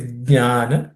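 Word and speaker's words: ज्ञान: Ideally, you should pronounce the J. Okay, it's Jnana, Vijnana.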